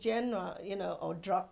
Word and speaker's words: genre: Tell me though, as far as your music genre, Genre. Thank you. It's a French word, I believe.